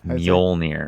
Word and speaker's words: Mjolnir: That's whoever holds Mjolnir. Yeah, I can't say the name of it. The hammer, you know? Adam's like, yeah, Mjolnir, right? It's Mjolnir.